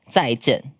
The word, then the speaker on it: 再见: If you want to type in traditional Chinese, which the way I speak, 台湾人们帮他打个再见，谢谢，帮他打个再见。It pronounced like 再见 Z-A-I 再见 Yeah, it's like the thing. 台湾人打一下 Goodbye 再见 Or you could just say bye bye.